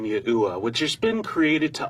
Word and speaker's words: YAHUAH: What you're going to discover is that the key historical figures and the overwhelming historical evidence points to the phonetic pronunciation of YAHUAH.